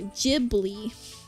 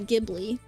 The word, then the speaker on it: Ghibli: Um, but yeah, so Gibli, not Gibli. Um, but yeah, either way is fine, but that's just how they pronounce it in Japan.